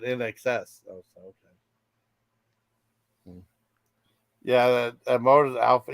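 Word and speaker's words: INXS: band called nxs I thought it was called inks and that's how it's pronounce the first I said in excess okay yeah that motor Alpha yeah yeah I'd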